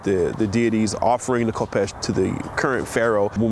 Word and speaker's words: khopesh: the klingon spirit so the kopesh in certain circles pronounced as hepesh it's very interesting we